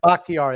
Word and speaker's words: Bakhtiari: They're getting back their left tackle, David Bakhtiari. Yeah. Bakhtiari, that's it.